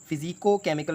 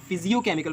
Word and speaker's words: physicochemical: सबसे पहले तो हम ये टर्म समझते हैं, इसकी जो सही प्रोनाउंसिएशन है ना, वो हम जो है आम रूटीन में, डेली रूटीन में हम इसको कहते हैं फ़िज़ियो केमिकल प्रोसेसेस, जबकि फ़िज़ियो केमिकल प्रोसेसेस नहीं है ये है फ़िज़िको केमिकल प्रोसेसेस।